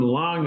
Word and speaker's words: Lang: card up there Tom Lang l n g he pronounces it the proper German way he and I were